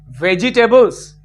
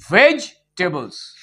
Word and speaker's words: vegetables: the pronunciation is not vegetables. The pronunciation should be vegetables. E will remain silent.